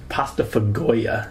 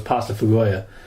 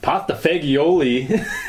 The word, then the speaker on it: pasta fagioli: That's how it's spelled, man. I think it's pronounced pasta fagoia. Whatever. But it looks like pasta fagioli.